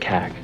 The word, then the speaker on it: CAG: It it's pronounced kag.